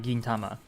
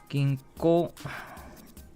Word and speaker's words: 銀行: What goes after gin? Pronunciation wise. Not Tama. It is not Gintama. Not the anime, no. It is Gin. Kotae wa ko desu.